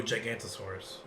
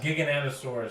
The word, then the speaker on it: Giganotosaurus: Oh, Gigantosaurus. That's not how they. But it's supposed to be pronounced like Giganta. Gigantosaurus? Yeah. Like Giganotosaurus.